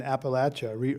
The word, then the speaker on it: Appalachia: feels like, rooted in Appalachia, a region that few Americans honestly visit or understand. Yeah. So how Or important? know how to say, right? Right. Did I say it right?